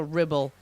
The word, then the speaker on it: Ribble: So with that, and also Ribble kind of rhymes with nipple.